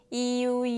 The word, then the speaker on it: ㅠ: 효자 효자 next is this is e+ so again Just blending the two sounds together. EU. It's very similar to the English word you. So you can use that as a reference.